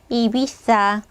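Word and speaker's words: Ibiza: 유명한 휴양지 섬인데 이비자섬 자 스페인어로 어떻게 돼요 이비사 이비사 어 자 예전에 금 배트맨 시리즈에 이제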